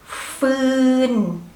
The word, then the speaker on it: ฟืน: the end ฝืน ฝืน while ฟอฟัน is low class consonant so when you pronounce ฟอฟัน the tone has to be low like a little bit low like ฟืน ฟืน ฟืน ฝืน